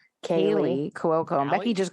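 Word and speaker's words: Kaley Cuoco: I thought it was Katie Cuoco for the longest time, and apparently she has L's. Kaylee Cuoco.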